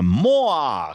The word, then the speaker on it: Moa: Come siamo raffinati questa mattina, ragazzi miei, con Moa, con l'accento sulla A.